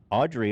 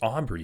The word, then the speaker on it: Aubrey: name wrong um yeah it's Aubrey it's not Audrey dude he doesn't even